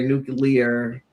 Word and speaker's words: nuclear: Uh he was warning Iran on the 25th uh over their nuclear am I say it right?